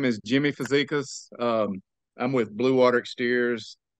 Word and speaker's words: Fazekas: Tim here with gutter growth I got Jimmy in front of us hopefully I pronounce that right uh perfect right why don't